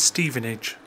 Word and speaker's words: Stevenage: correspondent Andrew Parker responded to your query the pronunciation is Stevenage also while I'm on the subject - so